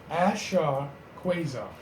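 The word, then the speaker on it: Ashra Kwesi: So, Ashra Quasar. Now, for anyone who needs to spell, I'll spell it for you.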